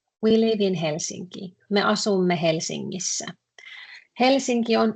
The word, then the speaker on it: Helsinki: There is this pronunciation curiosity thing here in Helsinki. Usually we say the letters as they are, but if you see a combination N, K, or NG, the pronunciation differs a bit. So Helsinki, N, letter N is